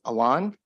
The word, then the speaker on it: Alon: My name is Alon, which is pronounced Alon like a lawnmower.